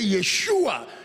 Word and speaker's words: Yeshua: Because you see, for us, we just say Jesus. But for them, when they say Yeshua, it means, because that's the Hebrew way to say his name.